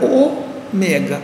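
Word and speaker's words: ὦ μέγα: ao Ômega que nós falamos Ômega não é pela pela influência Latina falamos Ômega Hum mas que em grego era o mega Isto é o grande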